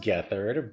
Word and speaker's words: Gethard: I think it's pronounced Gethard, but yeah, split it apart, get hard.